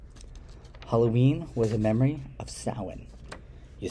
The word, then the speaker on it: Samhain: solstice feast halloween halloween was a memory of samhain you spell it s-a-m-h-a-i-n like samhain but you pronounce it samhain and it was a memory